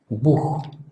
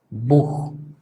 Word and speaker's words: Buch: parte de los casos, sobre todo después de vocal, la tendencia es que esto se va a pronunciar prácticamente como una J, como por ejemplo en la palabra Buch, Buch, que por cierto significa libro.